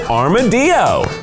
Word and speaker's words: armadillo: Spanish teacher said that yes you can pronounce it armadio we just call it armadillo because that's what we do here straight off the kids